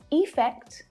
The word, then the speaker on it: effect: В обоих словах ударение делается на второй слог, поэтому безударный слог в начале каждого слова, звучит довольно похоже, даже учитывая то, что там разные гласные буквы.